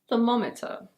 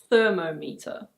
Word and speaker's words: thermometer: This one is: thermometer. It's not "THER-mo-me-ter". It's: thermometer.